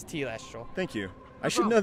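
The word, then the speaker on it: telestial: I want to know T Lester all not tell Esther oh yeah it's t last role thank you I should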